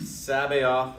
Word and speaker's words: Sabaoth: And Sabaoth and Sabbath, different words, different spellings, but sometimes people will hear Sabbath and they'll hear Sabaoth and think it's just a weird pronunciation.